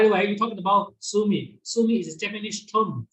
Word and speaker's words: sumi: Sumi means like in and water. Su like water, mi is mo, means like ink. Okay, in Chinese pronounced sui, mo. Okay, in Japanese su mi.